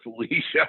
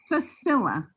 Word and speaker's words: Facilla: It's sort of funny because Jack calls her Felicia. I don't know why. That's okay. I have had the most craziest pronunciations of my last name. The worst one was Fakala, so come on.